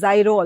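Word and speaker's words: Ziro: is called as a Zero anamata, a place which is called as Zero. It is also sometimes pronounced as Zyro also.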